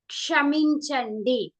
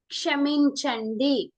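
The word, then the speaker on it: క్షమించండి: You're saying sorry is kshaminchandi. And if you observe, excuse me is also kshaminchandi. Sorry and excuse me. We use same words in Telugu. Kshaminchandi. It's a little bit tricky to pronounce. It's ksha.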